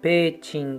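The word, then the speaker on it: 親雲上: まして、この親雲上って書いてペーチンって読みます。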